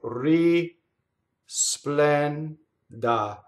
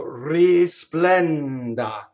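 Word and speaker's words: risplenda: So you would have to sing risplɛnda. You'd have to separate your syllables very, very carefully. Notice how that's separated. The first note is ri, second note is splä, third note is nda.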